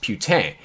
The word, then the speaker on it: Putin: are probably wondering andrew that's not how you say his name it is putin or putin you know like hey that guy's putin over there no believe it or not i'm kind of a linguist his last name is putin and if you listen to the podcast i'm going to play a clip which explains why it is pronounced putane the philosopher gordon ramsay